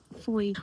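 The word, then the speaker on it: Fowey: Today is Thursday and we have just arrived in foy. What does foy remind rhyme with? Joy as it says.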